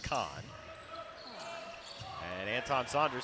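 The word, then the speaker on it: Coln: He spells his name C-O-L-N, pronounced Kahn.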